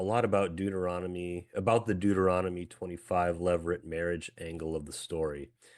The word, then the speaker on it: levirate: He said, and remind me of the pronunciation of this. It's levirate marriage. Okay. Yeah. Levirate marriage.